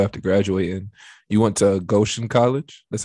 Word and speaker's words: Goshen: You know, after high school, after graduating, you went to Goshen College.